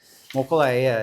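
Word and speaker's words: Mokulēʻia: Mokulea, it's how it's pronounced.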